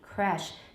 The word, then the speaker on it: crèche: Some speakers have tense vowels in a few new or unusual words such as creche, gauche. 我是用法文的发音 creche 是英式英